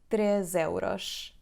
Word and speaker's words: três: so we say três euros: /trezeuroʃ/, /trezeuroʃ/, /trezeuroʃ/. it's like saying /tre zeroʃ/, /tre zeroʃ/, /tre zeroʃ/, /tre zeroʃ/.